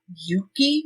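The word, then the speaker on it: Euki: information with a third party is the app Yuki that's spelled euk Ki and that app was developed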